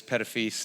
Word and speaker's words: Pettifis: It is Pettifis, not the other way you might think to say it.